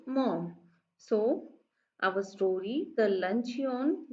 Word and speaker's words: Maugham: Okay, so it is not read as Mogham. It is only pronounced as mom.